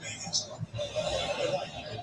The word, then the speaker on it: vegan: Doesn't like vegans. Vegan. It rhymes with Reagan. That's how normal people say the word, right?